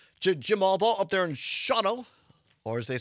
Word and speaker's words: Shawano: Jim Allball up there in Shawano, or as they say locally, Shawano. No, they don't. That's how it's spelled. It looks like Shawano, but it's pronounced Shawano.